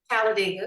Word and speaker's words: Talladega: Talladega.